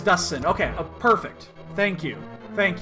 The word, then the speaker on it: Dustin: Is it Dustsin? Is that how you actually pronounce it, with a hard T? I need to know. I gotta know this, because I think I've been mispronouncing it forever. It is Dustin.